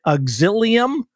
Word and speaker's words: Auxilium: as a licensed counselor at I tried to pronounce this word Ashley I'm gonna try it auxilium did I get it nailed it nailed it